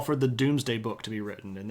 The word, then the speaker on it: Domesday: It's spelled like Domesday. So it's spelled like that, but it's pronounced Doomsday Book, or Domesday Book.